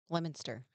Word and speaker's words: Leominster: I mean, look at Leominster. Right. It looks like Leo Minster. So I mean, it doesn't. It just doesn't look close at all.